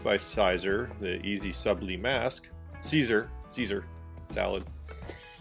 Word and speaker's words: Siser: Siser salad. Yes, pronounced Caesar like salad.